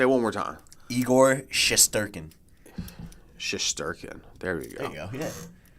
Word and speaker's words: Shesterkin: There's no way I'm going to be able to pronounce that name. Like, what? Say it one more time. Igor Shesterkin.